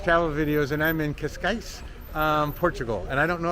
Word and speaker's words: Cascais: Hey everybody, this is Travel Videos, and I'm in Cascais, Portugal.